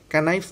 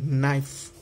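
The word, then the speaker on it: knife: कनाइफ नहीं, नाइफ चक्कू, बच्चे जब सीखते हैं इंग्लिश तो क्या बोलते हैं, कनाइफ मोस्ट ऑफ द, बराबर, क्योंकि वो लर्न कर उनको मालूम नहीं है।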